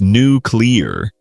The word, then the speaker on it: nuclear: A lot of people, even politicians, say nuclear, but it's nuclear. Right. Let me break it down. New plus cle plus ar, nuclear.